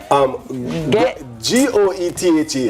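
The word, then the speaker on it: Goethe: G-O-E-T-H-E. And this. The last syllable is not pronounced. It's goeth.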